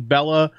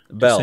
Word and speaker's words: Belle: way I gotta say Bell I keep saying Bella a lot of you guys directed me in the lancet Bella Bella that I need to say hello I need to train my brain Belle Belle because apparently that's how you pronounce it